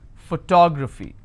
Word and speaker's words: photography: So this is my ending. I will stress here. Photography.